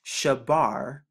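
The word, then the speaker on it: שבר: then the rash and we know that the sean makes the sh sound the bath makes the b sound and the rash makes the r sound which gets shabar another word that they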